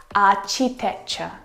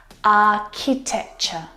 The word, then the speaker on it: architecture: I hear architecture, which is incorrect. The CH sound in this word is a K sound, like in cat. Architecture.